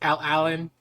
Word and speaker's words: Alan: That's how you say his name, right? It's like Lucas, Aaron. It's Alan.